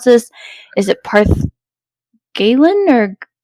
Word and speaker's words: Galen: Is it Parth Galen, or how do you pronounce that?